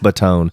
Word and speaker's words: Batone: Batone. Yeah, Buttone, I believe. Bro. Yeah. Okay. Or maybe there's no E. I can't remember, but it's pronounced Batone.